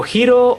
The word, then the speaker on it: Hilo: So Hiro, or rather Hilo as it's written, but pronounced Hiro by the Japanese, is a half-devil, half-human